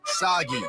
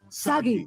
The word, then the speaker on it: Sagi: Cliched burden boy of action who will save us all is named Sagi. Rhymes with Saki. Saki! Which I could use a lot of right now. Sagi.